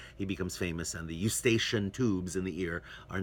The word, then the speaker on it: Eustachian: So you can guess Eustaquio in Italian, Eustachian is the way we pronounce it in English.